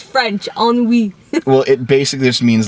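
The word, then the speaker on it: ennui: ass stuff I don't know how to spell on WE I'm n n u i e n n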